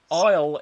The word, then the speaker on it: isle: Chaplin says, Isle is 2 syllables. It's not, I'm afraid. That is a single syllable.